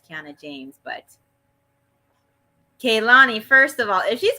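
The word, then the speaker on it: Kelani: no you're just gonna take it okay with keilani because that's her name oh I said I said it wrong yes you did it's you sounded like you said Kiana for it I was like there's already a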